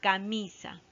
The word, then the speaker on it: camisa: Siguiente palabra, camisa. Separamos en sílabas, ¿no? Camisa. ¿Ya? ¿Cuáles son las sílabas átonas? Es ca y sa, ¿no? Ca, mi, sa. Mi es la sílaba tónica, es la sílaba más fuerte.